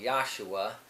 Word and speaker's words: Yahshua: And of course the letter J wasn't pronounced in Hebrew. It's not pronounced in the Hebrew language. It would be more like Yahshua.